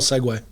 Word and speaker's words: segue: Spell segue. Segway. No. Okay. You can look it up later. Segue.